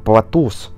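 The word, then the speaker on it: πλατύς: И корень произносится как «платус», что в свою очередь означает «плоскость».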